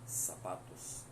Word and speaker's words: zapatos: Então, sapatos, se escreve zapatos, mas se lê sapatos.